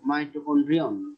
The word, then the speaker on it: মাইটোকন্ড্রিয়ন: যখন একাধিক বুঝাবে তখন আমরা উচ্চারণ করব মাইটোকন্ড্রিয়া। আর যদি আমরা একটা বুঝাই, একক একটি বুঝাই, তখন উচ্চারণ করব মাইটোকন্ড্রিয়ন। মাইটোকন্ড্রিয়ন, মাইটোকন্ড্রিয়ন হলো এক বচন, আর মাইটোকন্ড্রিয়া হলো বহু বচন।